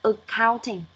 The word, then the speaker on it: accounting: Nhưng trong khi đó thì cái âm của từ này nó lại giảm ở âm đầu và lên ở âm số 2, đọc là accounting.